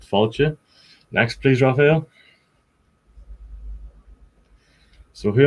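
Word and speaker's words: fáilte: my second name and that's how you say welcome in irish as well it's pronounced faulty next please raphael so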